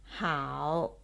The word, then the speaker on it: 好: how how how how so this word can be pronounced as the third tone how or how fourth Stone